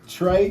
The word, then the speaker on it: Tr3: spell your name now so it's Trey tr3 Mondo M4 n d o the reason I spell it like that so Trey is cuz I'm the third uh Mondo in my